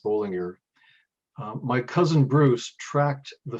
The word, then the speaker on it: Bolinger: german speaking switzerland and it was spelled with two elves at that time and pronounced bowling ear my cousin bruce tracked